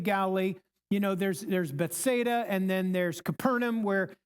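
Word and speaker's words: Bethsaida: Okay, we learn in chapter one that Philillip was I think I'm pronouncing this right from Beth Beth Bethada not Bethesda Bethada.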